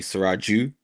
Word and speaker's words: Suraj: So those are the two meanings Siraj has. Obviously in Yoruba, sometimes the name could be pronounced different. It could be Siraju, but as I keep